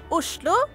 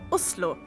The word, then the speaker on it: Oslo: In Norwegian, it's pronounced Oslo, or if you're posh, Oslo.